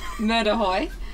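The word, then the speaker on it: Mur de Huy: so that makes it special how do you pronounce the final climb murder Hoy all right um and what about the Euros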